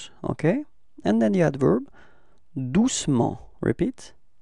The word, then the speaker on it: doucement: And then the adverb, doucement, repeat, doucement. Okay, so it's the same thing. We don't really pronounce the E between C and M, okay?